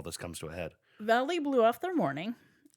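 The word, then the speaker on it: Vallely: Sharp emails some of Wayne's powerful friends, namely Paul Valley. I think it's pronounced Valley, but it's spelled Valley.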